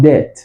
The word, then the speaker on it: debt: See, so the B is silent.